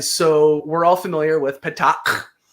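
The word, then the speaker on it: petaQ: In the show, they just say patak, and that's not the correct way to say it. Because remember, the capital Q, what does that sound? Do you remember? No, I don't. It's the super harshest guttural sound.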